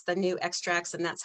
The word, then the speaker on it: Nu Xtrax: And then I put down here that it's the new extracts and that's how you pronounce it, new extracts.